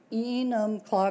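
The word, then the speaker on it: Enumclaw: still R is the editor for the E enum claw Courier heral did I get that right yeah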